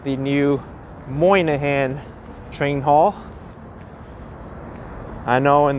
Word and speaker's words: Moynihan: people will be like no it's moynihan moynihan moynihan moynihan not monahan brian z is saying